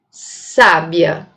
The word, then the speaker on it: sábia: Se eu colocar o acento nesta sílaba, eu vou ter a palavra sábia, certo?